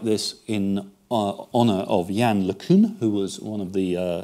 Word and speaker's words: LeCun: Jan once told me how you pronounce his name, and it isn't LeCun, it's LeCun, I think.